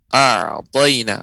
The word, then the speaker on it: أعطينا: Catatan pada surat Al-Kautsar yang hendaknya diperhatikan adalah pengucapan a'tayna, ain yang ketika pengucapannya dia ya lembut ya pengucapannya, tidak syiddah ya, tapi dia apa namanya tawassut bainiyah pengucapannya a'tayna.